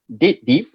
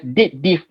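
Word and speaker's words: DATEDIF: Okay, date diff. It's been pronounced as date diff, not dated if, date diff, because date difference. Dated if is what past tense of if, macam tu.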